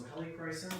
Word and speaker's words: helichrysum: So helichrysum, that's how you pronounce that.